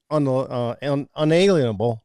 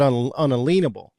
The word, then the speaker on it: unalienable: phonetically sounded that way be not un unalienable but unalenable because of the word lean. Most people are saying unalienable which is incorrect.